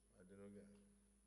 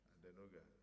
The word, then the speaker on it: Adenuga: Adenuga. I'm pronouncing as a son of the soil. Yes. Adenuga.